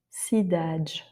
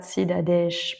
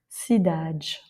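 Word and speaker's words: cidade: Sidage et non pas sidadesh, par exemple. Sidagge.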